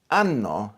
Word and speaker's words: anno: Anno is year, but anno is anus.